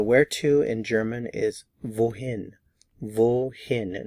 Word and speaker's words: wohin: So where to in German is wohin. Wohin. Notice the pronunciation of the W.